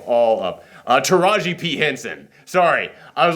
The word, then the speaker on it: Taraji P. Henson: by this head algorithm called Yes, played by Taraji T. Henson, which, man, that did not sound like Taraji T. Henson. Am I pronouncing her name correctly?